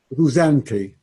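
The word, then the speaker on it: Ruzante: Say his name again. Rusanti. Yeah. Angelo, I think it was Angelo Beolco, known as El Rusanti, I don't know. But he's known technically as Rusanti, R-U, either one Z or two Zs, A-N-T-E.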